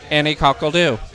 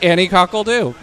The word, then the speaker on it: Anni Coque l'Doo: and I was like, "Annie Cole do. That's my name." And so yeah, I got dubbed Annie Cole do and I spell it French cuz you know, got to make it sound fancy.